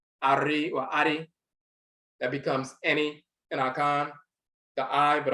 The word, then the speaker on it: ani: And Akan, that's pronounced any, A-N-I, any, which means the eye or eyes.